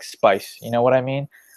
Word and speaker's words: Speiss: yeah or how so how do you say your last name I feel like I butchered good depends on uh what time tonight we're talking about yeah it's peace well you're right like